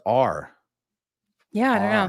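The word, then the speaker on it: å: Last Norwegian letters pronounced like awe in Paul. Awe. But your other friend said it's pronounced R.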